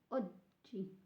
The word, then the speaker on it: oggi: So there's a double G, so remember J, oggi, to make a little pause on the O.